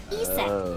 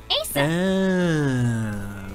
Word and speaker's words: Aset: But in ancient Egyptian, it's pronounced closer to Aset or Aset.